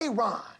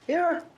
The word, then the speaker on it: Aaron: Aon. Aaron.